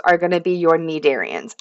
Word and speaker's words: cnidarians: Our other early group of animals are going to be your Nidarians. I know there's a C and it's probably throwing you off, but the C is silent.